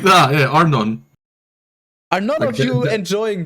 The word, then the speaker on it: Arnon: Arnon as in anonymous. Yeah, like just like that. Yeah, Arnon.